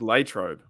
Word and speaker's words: Latrobe: I call it lro I heard it was Latrobe that you got to pronounce it that way I don't care how